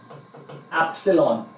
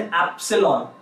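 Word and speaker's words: epsilon: ये जो है इसे हम प्रोनाउंस करते हैं एज एप्सिलॉन. What do we call it? We call it एप्सिलॉन.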